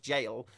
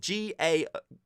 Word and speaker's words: gaol: I think it's just pronounced jail, but it's spelt with a G, so it's a bit weird. Gaol. I think it's just supposed to be jail.